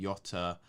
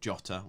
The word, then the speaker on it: Jota: news there you know you've mentioned that Yota um could be oh sorry jotter we have to pronounce that correctly we we had a campaign a while ago to pronounce jotter correctly um yeah I I